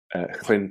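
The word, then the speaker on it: Llŷn: the place called the Glyn Peninsula, spelled with a double Lyn, and the double L makes it's Gaelic like a cl sound.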